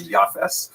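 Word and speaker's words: Japheth: In the Ashkanaz pronunciation that would be Yaf.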